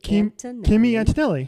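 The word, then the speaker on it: Kimi Antonelli: Kimmy Antonelli.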